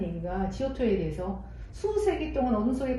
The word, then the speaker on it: Giotto: 지오토, 이게 어디 보면 그냥 조토라고 나와 있는데 제가 GIOTTO이기 때문에 지오토, 토라는 거는 저거는 약간 영어식 발음이야. 원래 이탈리아 뭐 이런 쪽으로 발음을 하면 지오토, 이게 맞아요. 지오토 디 몬도네인데, 이 사람이 이탈리아 피렌체 태생인데요.